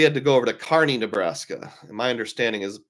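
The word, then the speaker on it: Kearney: Chad said he had to go over to Carney Nebraska and my understanding is it's pronounced Carney which is kind of like take I 80 and go a third of the way to Denver and there's Carney speaking of traveling AP who's one of the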